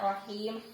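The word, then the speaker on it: رحيم: Perhatikan bismillahnya ya, rahim, haknya tipis, kemudian menyebut i seperti senyum.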